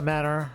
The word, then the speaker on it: manor: A manor pronounced just like the things that you were apparently raised without.